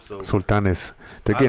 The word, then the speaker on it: Sultanes: And then Pete Jimenez has the Sultanas. So Sultanes.